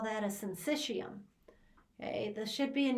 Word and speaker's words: syncytium: as a single unit we call that a syncytium okay this should be in your book and